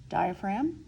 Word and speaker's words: diaphragm: to seize is the diaphragm how do you spell it dia Phra GM that's right the silent G counts absolutely and so I don't